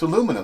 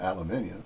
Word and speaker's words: aluminum: english words as well aluminium there's no two eyes and aluminum it's aluminum not aluminium that's another one that